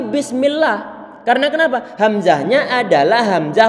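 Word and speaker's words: بسم الله: Sehingga kita baca bismillah, bukan bismi Allah, tapi bismillah.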